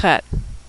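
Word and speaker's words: חית: That's a tricky one to pronounce because we don't have that sound in English. It's a throat-clearing sound like the German Ach, or the Scottish Loch, or like you're getting ready to hock a loogie.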